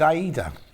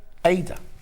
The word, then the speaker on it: Aida: what well you see i would have said aida but the reason you're thinking it's ada is because when we do a cross-stitch show the fabric they're using that is spelt like that but they call it ada 11th of april this